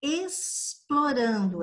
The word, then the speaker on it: explorando: E olha o som, explorando é com S.